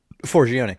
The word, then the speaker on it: Forgione: How do you say her name? Forgione, and I say it like that because she has a joke when someone says her name wrong.